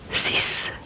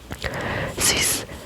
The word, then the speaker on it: six: It means sis sis. You pronounce the x like an s because you you you